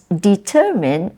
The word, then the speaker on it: determine: syab develop or determine it's determine is actually the the stress is on the second syllable determined not determined but